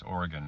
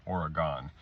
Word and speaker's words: Oregon: It's Oregon, not Oregon.